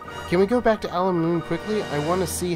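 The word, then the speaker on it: Al Mamoon: So next time on Ni no Kuni, we're going to be heading back to Alamoon.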